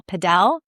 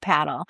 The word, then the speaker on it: padel: He is talking about the sport of what we used to call padel, but it's actually called paddle.